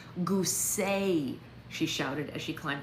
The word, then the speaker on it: Goose: That's pronounced gooseay.